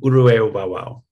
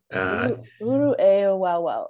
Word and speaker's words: Uru-eu-wau-wau: community thatu w wow is that how you pronounce it yeah um uru wow uru wow okay it's a it's a different kind of sound we don't have as